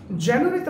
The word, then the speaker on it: January: জানুয়ারিতে আমরা যদি ক্লাব দেই, জা, নিউ, রি, 4টা ক্লাব দিচ্ছি।